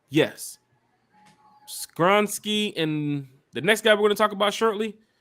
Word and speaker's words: Skoronski: Did I say his name correctly? Is it Skoronski? Yes, Peter Skoronski.